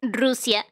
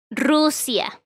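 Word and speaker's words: Rusia: started like that yes but in english russia is pronounced russia it doesn't have a role in r but certainly in spanish it's russia so it is a it has arena so yeah in english is russia but in in spanish it's pronounced russia if you thank you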